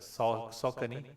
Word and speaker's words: Saucony: Okay, that's how you pronounce it. Saucony.